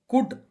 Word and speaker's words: could: देखिए COULD, इसका कुड, इसका प्रोनाउंसिएशन कुड है। इसी में एल साइलेंट है।